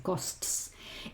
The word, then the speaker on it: costs: Recuerda que tienes que pronunciar todo, la s, la t y la s, costs.